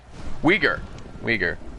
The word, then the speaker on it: Uyghur: Uyghur. I got it now. I just saw the... I've been mispronouncing that for a while.